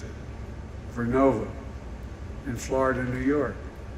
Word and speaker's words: Vernova: COSA makes wind towers that's going to go into turbines made by GE Verona. Excuse me, I mispronounced it. Vernova in Florida and New York.